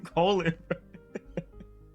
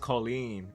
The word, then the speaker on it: Colleen: Why his name Colin? They named that baby Colin. It's pronounced Colleen, like in Street Fighter 5.